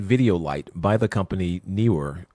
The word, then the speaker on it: NEEWER: So this review is for an LED video light by the company NEEWER. I usually pronounce it Newer, but Neewer.